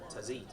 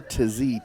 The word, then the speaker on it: Tazi: Entering the field in goal for Northgate, number 24, Omar Tazi. Actually pronounced Omar Tazi, T-A-Z-I, the junior goalkeeper, and he will come